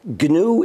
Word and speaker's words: GNU: well any government yeah well first of all ganu is the name of the operating system I started in 1983 it's pronounced G Linux is a kernel it's one